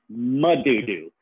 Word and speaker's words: Madudu: No, it's not doo-doo. I did not bring a big doo-doo out to share with you. No, it's pronounced Madudu. Kubwa Madudu. See the difference?